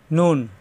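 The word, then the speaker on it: نون: শেষে থাকবে এরকম মিম নুন উপরে এক নক্তা নুন এরকমই হরফ এই নক্তাটা নিচে আসলে হয়ে যাবে বা সবাই লক্ষ্য রাখবেন নুন জিহ্বার আগা উপরে তালুতে লাগবে নুন নুন নুন নুন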